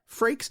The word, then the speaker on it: Frakes: Is it Frakes? Frakes. Is that how you pronounce it? It's like rakes, but with an F. Frakes.